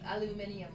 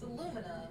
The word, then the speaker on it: aluminum: I've heard in England, aluminium, right? Some people pronounce it. It's aluminum.